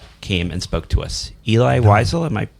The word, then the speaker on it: Eli Wiesel: Eli Wiesel, am I pronouncing that correctly?